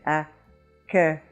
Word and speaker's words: accueil: "aw" with the lips you're going to come pretty close to the sound eu as in accueil. You had the same sound in "jeune" or "oeuf" or "veuve".